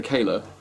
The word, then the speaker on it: Kahler: had a kayla um i always used to think it was pronounced carla but it's not it's pronounced kayla um and the reason